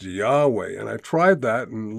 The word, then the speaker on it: Yahweh: when I found uh somebody said, "Oh, it's pronounced Yahweh."